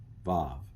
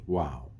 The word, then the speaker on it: Vav: Vav. It used to be pronounced wow.